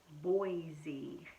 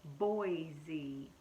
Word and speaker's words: Boise: you out here the capital of Idaho is Boise that's how you pronounce it Boise cuz I spell it capital bean oh I